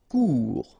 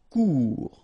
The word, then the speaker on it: Court: Court. Final T not pronounced. Court.